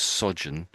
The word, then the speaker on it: sojourn: But normally pronounced as sojourn.